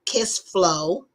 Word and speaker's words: Kissflow: Kiss Flow, just like it's spelled, KISSFLOW, and check it out.